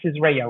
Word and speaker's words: Israel: It's Israel, right? That's how it's pronounced.